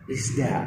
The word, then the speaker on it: RISDA: ini nyebutnya Rizda. Nah, Enteng di lidah gitu. Iya, benar. Hanya mengambil nama dari Nur Huda ujungnya da. Ya. Rizda.